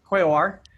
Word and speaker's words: Quaoar: Reeve, have you Kirby, heard of Kirby, how do you pronounce Quayar? Quaoar, yeah. Quaoar, that's it.